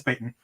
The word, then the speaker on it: Payton: real quick from brian badande he said it's pronounced patton not peyton uh no it's it is peyton um it was actually one of the first